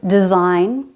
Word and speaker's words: design: Also GN at the end of a word. Design, sign, rain, foreign, assign, campaign.